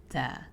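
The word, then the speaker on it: طاء: The next letter that comes from the same spot is ta. Whenever you're pronouncing ta, you have to make sure that there's a little bit of air being expelled from your mouth as well. Ta.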